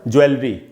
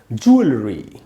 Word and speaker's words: jewellery: ज्वेलरी, ज्वेलरी, ज्वेलरी shop. ज्वेलरी नहीं होगा दोस्तों, ज्वेलरी। ज्वेलरी, जू में ऊपर स्ट्रेस है, उधर ही ज़्यादा टाइम तक रुकना है आपको।